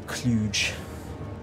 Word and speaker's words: Cluj: It's pronounced Cluj now. It's always been pronounced Cluj.